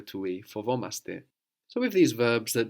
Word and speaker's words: φοβόμαστε: And we are scared? Φοβόμαστε. Fovomaste. No, we don't carry the A over to we. Fovomaste.